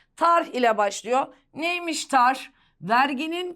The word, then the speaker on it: tarh: Telaffuzu biraz güç. Tarh ile başlıyor. Son H'yi vurgulayacaksın hayatım. Tarh ile başlıyor.